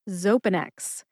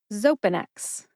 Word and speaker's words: Xopenex: only has three syllables they are zo which rhymes with toe pen like the writing instrument pen and X like the letter in the alphabet X put that all together and you get zopanex emphasize the first syllable